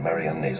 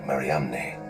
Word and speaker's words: Mariamne: Magdalene was an apostle, then the unique alias Mara on Mariamne's ossuary could be pointing to something extraordinary.